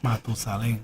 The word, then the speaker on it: Matusalén: How do you say that in Spanish? Matusalem. No. How would you say the whole thing? It will be este más viejo que Matusalem. Matusalén.